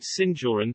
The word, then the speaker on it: Sinjoren: The inhabitants of Antwerp are nicknamed Sinjoren, Dutch pronunciation, S-J-O-R-N, after the Spanish honorific seigneur or